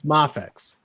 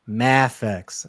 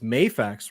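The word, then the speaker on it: Mafex: because i know some people say moffat's it's mafix but you know what it's not it's not math x and that's what kevin says math he says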